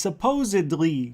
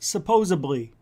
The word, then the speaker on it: supposedly: It's supposedly, not supposably.